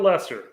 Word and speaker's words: Leicester: my pronunciation look at look at Lester I mean that that that that you look at that name and you're sitting there like that can't be how you pronounce that it looks like Leicester or something yeah yeah was problem